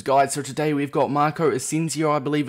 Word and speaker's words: Marco Asensio: another player objectives guide so today we've got marco ascencio i believe it's pronounced and he is another la liga league